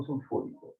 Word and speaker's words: sulfúrico: Y más el ácido, este es el ácido más, este es el producto de la industria, el ácido sulfúrico. Ácido sulfúrico, por acento en la U.